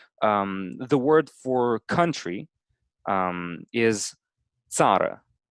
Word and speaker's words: țară: The word for country is țară. Sada. Yeah, țară.